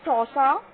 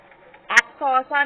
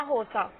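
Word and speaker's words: Xhosa: इन सौसा the language that his parents spoke, so सौसा एक्स silent है बट इसको सौसा पढ़ेंगे, एक्स सौसा नहीं पढ़ेंगे, सौसा, okay, या होसा, यू कैन रीड होसा या सौसा, anything you can read.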